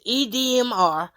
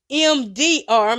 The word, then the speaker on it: EMDR: So I had to go and Google, what is EDMR? Y'all, let me Google it now. And prayerfully, we don't go off. Okay. So EDMR, what does EMDR, my bad, I've been saying it wrong.